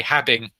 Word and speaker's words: having: You don't say having, you say having. So just pay attention to that. Get that bottom lip behind the teeth.